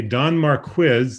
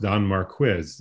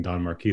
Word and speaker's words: Don Marquis: so uh don and by the way a don mark quiz this is my contribution a don marquis scholar informed me that it's pronounced denmark quiz after i gave a talk uh saying don marquis the entire talk but here's yeah i know